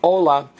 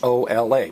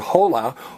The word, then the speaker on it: hola: we don't pronounce it whole out we're in a whole lot of trouble how do you pronounce H Ola everybody Ola right so the letter H is always silent and you also if